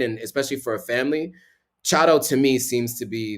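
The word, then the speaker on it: Tseaddo: some nicer places in chato for the right price so chado is spelled t-s-e-a-d-d-o so it it's pronounced way differently from how it's spelled don't ask me but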